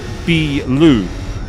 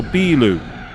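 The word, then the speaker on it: ビール: Whereas beer is bilu, you extend the B sound, so you go bilu.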